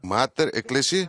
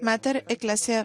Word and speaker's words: Mater Ecclesia: quiero asegurarme que lo voy a pronunciar correctamente. Es Mater Ecclesia. Así es, Mater Ecclesia, Fondo para las Vocaciones.